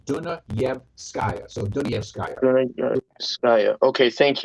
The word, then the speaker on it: Dunayevskaya: Break it up into 3 parts. Dunayevskaya.